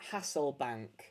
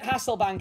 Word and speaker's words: Hasselbaink: win this card, I need you to comment Hasselbaink. Hasselbaink. Yeah, make sure you spell it right. You'll be able to see how to spell it on the screen. Hasselbaink. Hasselbaink, actually. Hasselbaink.